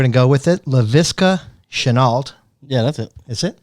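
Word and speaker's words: Laviska Shenault: I don't know how to pronounce his name, so we're going to go with it. LaVisca Chenault.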